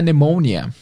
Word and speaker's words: pneumonia: pneumonia pneumonia então é pneumonia se escreve exatamente igual pneumonia mas se fala pneumonia which affects que afeta